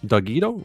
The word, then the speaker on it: Dogito: Dogito, like taquito, pero Dogito.